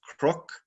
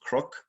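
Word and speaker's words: cnoc: biaon or been knock which in ulster is often pronounced croc usually pronounced croc and schlieve and on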